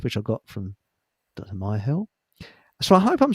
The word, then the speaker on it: Myhill: Myill. So I hope I'm pronouncing your surname correctly.